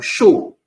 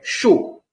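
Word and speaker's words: chaud: be pronounced o so anywhere you see Au in a French word pronounce it o example is the second example there example show c h a u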